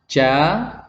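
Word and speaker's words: ج: Jadi nggak boleh dibaca J. Tapi dibaca ja.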